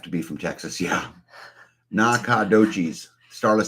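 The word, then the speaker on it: Nacogdoches: Okay, New Day says Nakadochi's pronunciation sounds like Nakadochi's. Sort a long O, Nakadochi's.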